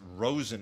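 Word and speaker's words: Rozen: a this is specifically Roy or I guess Rosen is how you're supposed to pronounce it I've heard it both ways but uh Rosen or royen Maiden Rosen Maiden uh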